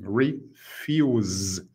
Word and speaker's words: refuse: ou o oposto refuse refuse pronuncia assim refuse esse S termina no som de z refuse Então são aí